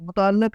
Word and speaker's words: متعلق: متعلق۔ یہ ہے اس کا درست تلفظ، متعلق، متعلق نہیں، متعلق۔ لام کے نیچے زیر ہے، اوپر شد ہے، متعلق۔ اگلا لفظ ہے جی،